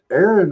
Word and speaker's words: Aaron: And this Aaron rhymes with Karen.